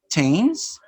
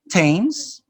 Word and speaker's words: Thames: ta idi stopped washed ta is a spell th in a few names for example you have thailand james thomas and th thailand thames thomas generally this is spelling